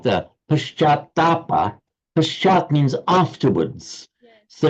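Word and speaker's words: पश्चात्ताप: Can you pronounce it, James, just once, please? Pashatapa. It's Paschatapa.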